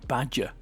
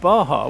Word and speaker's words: Baja: Baja California Trail, or Badger California Trail as I was calling it for quite a few years on Horizon. Yeah, the Badger bug. Good car that, but the Badger bug. This actually pronounced Baja, which, you know what, you learn stuff every